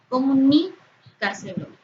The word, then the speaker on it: comunícaselo: Por ejemplo, la palabra técnicas, comunícaselo, tienen su sílaba tónica en la antepenúltima sílaba y por ello deben llevar tilde siempre.